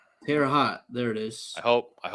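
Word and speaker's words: Terre Haute: Um, I don't want to pronounce that city. Uh, Terraot. Terra hot.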